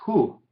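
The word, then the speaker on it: הוא: La segunda palabra, leanla, es Hu. Y otra vez tenemos una Aleph inactiva, no tiene vocal, entonces se dice como una sílaba esto.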